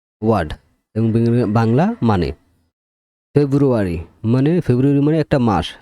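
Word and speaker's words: February: সাইলে লেটারের 10 টি word এবং বাংলা মানে ফেব্রুয়ারি মানে ফেব্রুয়ারি মানে একটা মাস ফেব্রুয়ারি তারপর কর্নেল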